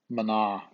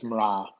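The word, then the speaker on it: mná: Another example of that is the word mra. Some dialects in Ireland that's pronounced mana, but in Ulster Irish it's mra.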